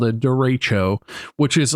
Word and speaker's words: derecho: how to pronounce this, derechoes. Not Derico. No. Derecho.